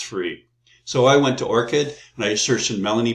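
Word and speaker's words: ORCID: know there's two is this researcher have an orchid that's how you pronounce Orchid ID so here's the website um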